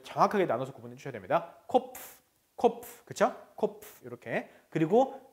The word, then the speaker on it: Kopf: 코프 아니에요. 코프. F는 어떻게 발음하냐면 위에 이가 윗니가 아래 입술에 붙어서 세야 됩니다.